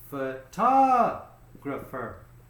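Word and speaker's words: photographer: two three four okay which syllable gets the stress the second one foot gruffer okay so you're noticing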